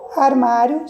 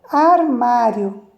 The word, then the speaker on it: armário: Armário. Então, na hora que eu for separar essa palavra, qual sílaba tem o som mais forte? Armário. Então, a sílaba mais forte é o má.